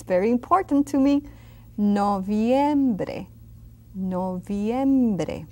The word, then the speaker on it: noviembre: Noviembre. See that V, that I and an E? Pronounce them all. Don't leave anything out. Noviembre.